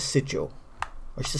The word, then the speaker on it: sigil: I used to say sigil, but I think it's sigil.